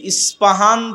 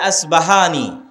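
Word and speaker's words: اصفهان: নামে সেই নগরী আছে আমরা প উচ্চারণ করি ইসপাহান আরবিতে এটা উচ্চারণ হয় না আরবিতে হয় আল আসবাহানী বা উচ্চারণ হয় ইসবাহান বা আসবাহান সেখান থেকে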